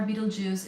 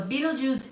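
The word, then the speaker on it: Betelgeuse: So, by the way, Beetlejuice is spelled as B E T E L G E U S E, I do believe. Please do check my spel spelling, but it's not Beetle uh juice like the fruit juice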